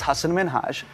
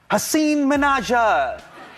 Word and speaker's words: Hasan Minhaj: Yeah, but the real way you pronounce it, and this is a big deal cuz my parents are here, it's Hasan Minhaj. And people always mispronounce it. They're always like, "Haseen Minaj-a! Hussein!